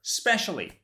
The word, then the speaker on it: specially: Especially or specially? That's right, but why? And what's the difference between the two words? Well, first of all, pronunciation. Specially with an S, especially with an ES. Specially, especially.